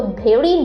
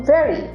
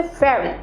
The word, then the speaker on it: very: সো ভেরি বলবেন না, বলবেন ভেরি, মানে ভেরি। এখানে ভয়ের উচ্চারণ আসবে না, উচ্চারণটা আরেকটু আপনাকে চাপিয়ে করতে হবে, ভেরি।